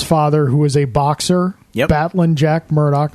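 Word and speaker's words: Battlin': who is a boxer batlin Jack Murdoch very important the pronunciation it's not battling it's batlin yep correct Jack Murdoch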